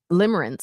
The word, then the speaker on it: limerence: Limerence.